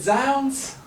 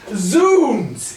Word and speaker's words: zounds: have seen this and pronounced it zounds, and that starts us off on the shakiest of grounds. And though this is thy choice, I wish not to denounce it, but zoons is how we would have thee pronounce it.